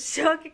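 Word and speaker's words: Şok: Para nosotros lo vemos escrito como Sok, pero ellos lo pronuncian Shok porque es como una S con un palito.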